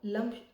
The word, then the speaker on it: लं: इसका जो साउंड है यह लम है।